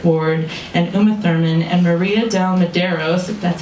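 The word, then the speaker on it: Maria de Medeiros: legs watching Fred Ward and Uma Thurman and Maria Del Maderos that's how you pronounce her name kiss and grope and [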